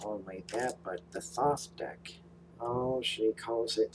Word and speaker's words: Thoth: the writer weight not only that but the thoth deck oh she calls it thought and shield